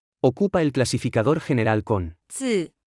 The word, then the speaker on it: 字: 字字字字字字 Se pronuncia con el cuarto tono.